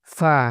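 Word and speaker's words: ف: ফা, এটাকে উচ্চারণ করতে হবে ফা। জিহ্বা, জিহ্বা না, দুই দাঁতের আগা এর নিচের ঠোঁটের ফেটের সাথে মিলে পড়তে হবে। ফা ফা ফা।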